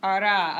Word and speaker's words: hará: And you don't pronounce the H.